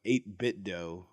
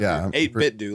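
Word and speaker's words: 8BitDo: of the company, but 8-Bit Dough. Yeah, that's right. Or That'll work. 8-Bit Do, like Nintendo.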